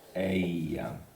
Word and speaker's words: ella: L with an accent, and ella. So double L in Spanish is going to be pronounced like I.